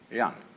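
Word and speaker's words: 仁: fundamental virtue of a human being is called young spelled j-e-n for reasons best known to chinese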